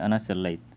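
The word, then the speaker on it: أنا صلّيت: लेकिन स्पोकन में जो मैंने बताया था कि लास्ट हरफ की हरकत को छोड़ देते हैं, वहाँ पे उसको साइलेंट रखते हैं तो बोलेंगे अना सल्लैत, अना सल्लैत, मैंने नमाज़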